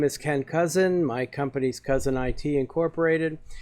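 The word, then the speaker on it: Kousen: My name is Ken Cousin. My company's Cousin IT Incorporated. It's just pronounced Cousin, but it's spelled K-O-U-S-E-N, which looks a little weird, but what are you going to do?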